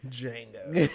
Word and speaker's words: Django: Django, just because I felt like that's like every black person's superhero movie personally. Django. Like The J is silent.